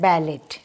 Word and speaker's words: ballet: इसकी व्युत्पत्ति का वर्ड माना जाता है बैलेट, BALLET। इसको लिखते समय भी हम BALLET लिखते हैं, लेकिन इसमें T साइलेंट होता है।